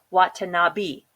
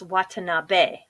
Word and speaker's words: Watanabe: Watanabe was pronounced it what to not be e is pronounced as a so it's Watanabe and same as the